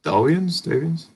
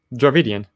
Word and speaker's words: Dravidian: How do you pronounce it? Is it Davians? Dravidian. Yeah, Dravidian. Okay, there we go.